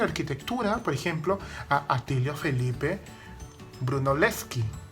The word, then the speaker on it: Brunelleschi: por ejemplo castillo felipe brunelleschi el como que en italia das l se pronuncian por separado y la che sobre 8 como una q no brunelleschi nació en